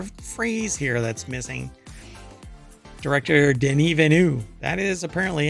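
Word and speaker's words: Denis Villeneuve: there's an entire phrase here that's missing director Den Vu that is apparently how you pronounce his name or he pronounces his name or you're supposed to pronounce his name not Dennis Villano denu um believes Blade Runner 2049 could have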